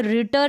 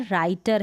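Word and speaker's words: writer: उच्चारण र होता है, डब्लू आर का उच्चारण र होता है, और डब्लू जो है ना, ये शुरू में जो डब्लू आ रहा है ये साइलेंट रहेगा, तो ये रिटर नहीं है, राइटर है।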